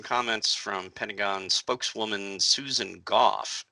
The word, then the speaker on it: Goff: from pentagon spokeswoman susan goff and it's pronounced gough by the way uh made it sound